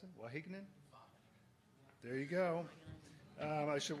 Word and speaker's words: Wageningen: He has an MSc in Management of Agricultural Knowledge Systems from how do I pronounce it? Wageningen?